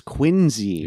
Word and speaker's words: Quincy: uh another weird pronunciation it's quincy not quincy yeah john quincy yeah yeah just like the town you know so interesting